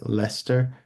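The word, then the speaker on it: Leicester: lot of words that they have some words called like Lester which is not spelled like Lester it's spelled l e i c s t r uh there's gluster which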